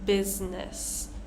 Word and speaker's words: business: of ignoring the vowel sound we're not really pronouncing that vow so with the letter i we have one common word here business right we're not saying business versing business moving